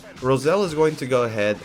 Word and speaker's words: Roselle: I wasn't familiar with your game, Rosalie. Or Roselle. Yeah. I don't think it's Rosalie. I think they mispronounced her name.